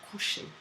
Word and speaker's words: coucher: Couching comes obviously from a French word, and it comes from coucher. And coucher is a verb, which means to lie down. Basically, when you go to bed, you go se coucher, right?